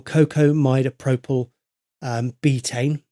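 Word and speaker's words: cocamidopropyl betaine: you would also add it add in your cocoa midopropyl um betaine that's how you say it um and that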